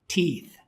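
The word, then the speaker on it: teeth: तो हम बोलते हैं टीथ। अकेला टुथ ठुथ, और सारों को कहें तो फिर हम कहेंगे टीथ। पाकिस्तान में टीथ बोलते हैं, गलत है, गोरे इसे बोलते हैं टीथ।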